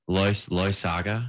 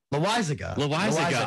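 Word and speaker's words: Loaisiga: What's his – how do you pronounce his name? What's it – like, one more time for me? I didn't hear. L-O-A-I-S-I-G-A. He's a pitcher. Loy Saga. Loy Saga. Loizaga. I can't pronounce it.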